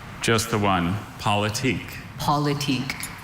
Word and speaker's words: politique: Politique.